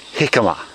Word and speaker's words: jicama: And we're going to plant some jicama. Well, that's how it's pronounced, jicama, but it's actually spelt jicama.